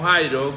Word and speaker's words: Jairo: Jair, luego ese nombre es transliterado al griego y se pronuncia como Jairo, que significa Dios ha iluminado.